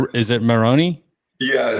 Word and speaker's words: Maroney: in there okay that's a unique way to pronounce but i like it and so it's is it moroni yeah it's a super irish yeah okay well